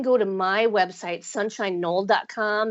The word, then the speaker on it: Knoll: to my website sunshine Knoll calm and it's no less spelled with a k like a gret like the grassy knoll yeah sunshine Knoll calm